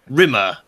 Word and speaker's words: Rimmer: Rimmer, to rhyme with scum.